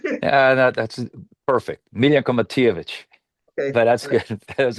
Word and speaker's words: Miljenko Matijevic: Am I pronouncing it right? Yeah, that's perfect. Miljenko Matijevic.